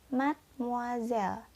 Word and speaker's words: mademoiselle: Dan yang terakhir dibaca mademoiselle.